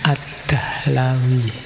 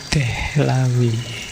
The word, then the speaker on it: Dihlawi: Ada yang membacanya Ad-Dahlawi. Kalau di barat lebih banyak disebut Dehlawi. Ayo, saya tidak tahu teman-teman suka mana, Dihlawi, Dahlawi, atau Dehlawi. Ini apa, nisbah kalau dalam namanya disebut Dihlawi karena beliau berasal dari Delhi, India.